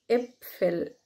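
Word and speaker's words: Äpfel: ايه ايه بصوا كده بتنزلوا بقكم كده وانتوا بتنطقوا ايه ايه، دي كلمة ابفل.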